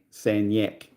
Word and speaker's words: Sagnac: Yet they pronounce it san. San yak. San yak.